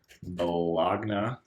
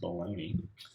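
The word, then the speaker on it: Bologna: fake name figaro bolog-nah it's actually pronounced baloney and then I'll put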